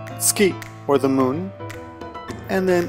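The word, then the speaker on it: 月: The left half, moon, pronounced tsuki, is a kanji by itself, but the right half, inoko, is rarely used and is not one of the must-know kanji.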